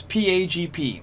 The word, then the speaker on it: PAgP: port aggregation of lac so how do we pronounce pagp we pronounce that pag p it is cisco proprietary